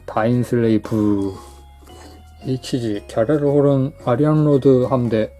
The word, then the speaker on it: 다인슬레이브: 부쿠시노의 다인슬레이브 같은 경우는 보통 F로 끝나니까 다인슬레이프라고 표기를 하잖아요. 그런데 셔렐의 오펀스에서는 다인슬레이브가 맞습니다. 비읍 발음이에요. 다인슬레이브.